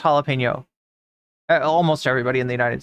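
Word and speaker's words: jalapeño: or to know that that J is pronounced different in Spanish the N makes the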